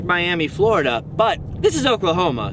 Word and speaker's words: Miami: I should note that this next town is spelt Miami, just like Miami, Florida, but this is Oklahoma, so it's pronounced Miami.